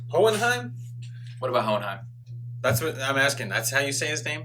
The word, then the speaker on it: Hohenheim: i want that off hold on time what about hohenheim that's what i'm asking that's how you say